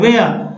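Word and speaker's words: where: जैसे देखिए WHER, वेयर, क्या पढ़ते हैं, वेयर, H नहीं पढ़ रहे हैं, W पढ़ रहे हैं,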